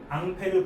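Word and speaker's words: Ampère: 그래서이 사람의 이름을 따서 앙페르 법칙이라고 이름을 붙여요.이 사람의 이름을 따서 만들어낸 단위가 암페어라는 전류의 단위 그죠? 왜 발음이 다르냐? 얜 프랑스 사람이고 암페어는 영어 발음이기 때문에 둘이 발음이 다른 거.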